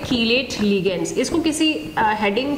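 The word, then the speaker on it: chelate: ये जो कीलेट compounds होते हैं, इसको कुछ लोग प्रोनाउंसिएशन में चीलेट बोलते हैं, इट इज नॉट चीलेट, इट इज कीलेट।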